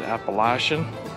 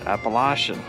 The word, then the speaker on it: Appalachian: Trail through hike, or you can say it Appalachian, because that's where I'm going down south and they pronounce it Appalachian.